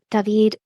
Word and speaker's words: Daveeed: to my name, because my name is David, but in Spanish it's David. So since I moved here to the United States, I've been called David, and going back to David was impossible. All to say that I spell my name Daveee with three E's, just so that it sounds phonetically.